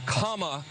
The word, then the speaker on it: Kamala: fellow hosts on fox her name is pronounced comma like the punctuation mark look kamala okay seriously